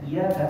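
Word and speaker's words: إِيَّاكَ: n bukan salah itu walaupun Sir dia tetap bacanya iyaka nabudu waaka nastain hanya kepada engkau kami menyembah dan hanya kepada engkau mohon pertolongan apabila dihilang tasdiknya maknanya berubah 180 derajat hanya kepada cahaya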